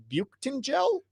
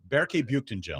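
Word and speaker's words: Büyüktuncel: Uh you had to pronounce his name on the air. Is it B button gel? Barcen gel.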